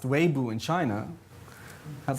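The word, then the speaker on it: Weibo: 200 million people but uh i think it's pronounced weibu in china has like 500 million people on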